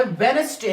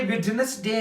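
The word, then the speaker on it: Wednesday: क्या है साइ फिर यह वेनसडे है वेनसडे है यह विटनेस डे नहीं है काफी स्टूडेंट्स मोस्ट ऑफ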